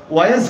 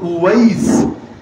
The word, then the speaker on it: উওয়াইস: বাস্তবে নাম কি জানেন? নাম হলো উওয়াইস। কি নাম? উওয়াইস, শেষে সিন, উওয়াইস। একটু উচ্চারণটা কঠিন।